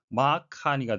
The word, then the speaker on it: Mark Carney: 우리말 표기로는 마크 칸이라고 쓰지만 실제 영어로는 마크 카니가 되겠고요. 예, C와 K가 연음이 돼서 한 번만 발음이 되겠습니다.